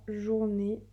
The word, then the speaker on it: journée: Et ça donne ma journée. Donc, faire attention puisqu'il y a un E muet à la fin.